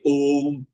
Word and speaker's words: Om: You say Om. Om has three syllables. O, Uma.